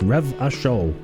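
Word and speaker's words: Revachol: go into the world revitol is pronounced ravashol rebus table here we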